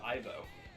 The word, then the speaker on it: Ivo: His name is spelled Evo, but pronounced Ivo.